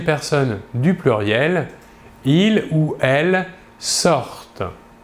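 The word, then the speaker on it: ils sortent: Et enfin, à la troisième personne du pluriel, il ou elle sortent. Comme toujours, ici, nous voyons que la terminaison ENT à la fin du verbe, à la troisième personne du pluriel, ne se prononce pas.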